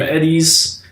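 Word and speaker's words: Edy's: There's a guy who samples over 50 packages of ice cream from Eddie's. EDY is how you pronounce it?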